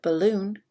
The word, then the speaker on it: balloon: between these two words in the word balloon the emphasis the stress is on loon ball balloon ball balloon